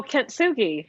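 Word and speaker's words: kintsugi: about um the i don't know how to pronounce it is it k-i-n-t-s-u-g-i oh kentsugi yes yeah yes yeah can you can you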